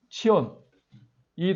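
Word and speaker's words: ציון: 이게 원래는 차 되니까 원래 히브리 발음은 치이야 치온 치온 따라서 해보세요 치연 치 치온 치 좀 길게 치연 치 치온 치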